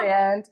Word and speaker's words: Rysand: I know it's Yes. pronounced Ryzand. Oh my God, y'all. We do have to say we will pronounce certain names technically not the right way, but it is Rysand. It's rice.